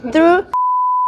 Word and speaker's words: Through: 한 번 조회하는데 얼마의 비용이 들었는지를 의미하는 거고, VTR이라고 하는 거는 View Through Rate라고 하는 건데 TH 번데기 발음 알지? View Through.